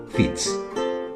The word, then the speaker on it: Fitz: Del latín filius deriva la palabra francesa fils, y la pronunciación normanda para ese nombre es Fitz.